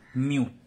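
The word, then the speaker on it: μ: Okay, Greek letter है ये, जिसका प्रोनाउंसिएशन है इसको प्रोनाउंस किया जाता है म्यू.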